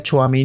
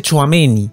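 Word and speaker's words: Tchouaméni: Real Madrid es ameni Ya sé cómo se pronuncia todo este tiempo le decía choamén Nicho amení pero se dice choameni que para empezar fue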